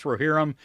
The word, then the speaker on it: Rohirrim: Easiest way to pronounce Rohirrim is to neigh like a Rohirrim horsey.